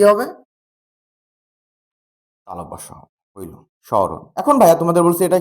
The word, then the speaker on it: স্মরণ: ম ফলা থাকলে কি হয়? চন্দ্রবিন্দু হয়। চন্দ্রবিন্দু দিছি স। এরপর দেখো মাঝের বর্ণের অ উচ্চারণে কি হয়? ও হয়। স্মরণ। মূর্ধন্য থাকলে উচ্চারণে কি হয়? দন্তের ন হয়।